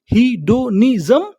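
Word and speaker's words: hedonism: एन आई एस एम निज्म तो हमारी meaning क्या बनी? हिडोनिज्म।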